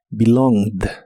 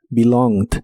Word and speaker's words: belonged: verbo regular Así que termina con e d en el pasado en este caso solo se pronuncia la d belonged belonged y lo puedes usar